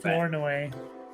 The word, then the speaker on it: Flournoy: They drafted Ryan Flournoy or something. I don't know how to say his name. Flournoy. That's right.